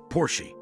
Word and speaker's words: Porsche: Eventually Porsche became fed up with people mispronouncing their brand name, that they uploaded a